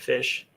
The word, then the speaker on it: Phish: Because of the band Fish. Right. Oh. That makes sense. PHISH.